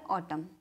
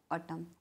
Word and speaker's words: autumn: वो होता है ऑटम। कौन सा होता है? ऑटम। स्पेलिंग होगी AUTUMN, ठीक है। क्या होगी? AUTUMN, क्या बोलते हैं उसको? ऑटम बोलते हैं, मीन्स पतझड़ का मौसम।